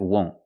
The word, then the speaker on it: won't: Now let's look at won't. Won't, the vowel. The vowel sound is O, the long O, like no, go, and phone.